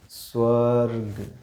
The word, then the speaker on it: स्वर्ग: र देखिएगा र फिर ग फिर अ बोल के देखिए इसे स्वर्ग क्या आएगा स्वर्ग ठीक बताइए र का उच्चारण कहां हो रहा है ग से पहले बताओ किस पे लगा हुआ